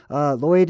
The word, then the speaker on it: Lloyd: It's pronounced Lloyd.